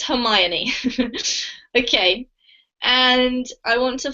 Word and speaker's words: Hermione: This name is pronounced Hermione, Anna. Thank you. Hermione. It's a really, really rare name, even in English, and most kids who read the book think it's either Hermione or sometimes Hermione, but it's Hermione.